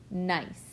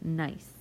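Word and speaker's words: gneiss: rock that is called nice and the G is silent so we say this word is nice so a little conversation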